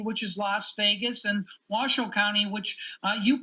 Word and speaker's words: Washoe: in clark county which is las vegas and washoe county which uh you pronounced perfectly uh is is northern nevada with